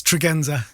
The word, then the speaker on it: Tregenza: Yeah, it's Tregenza.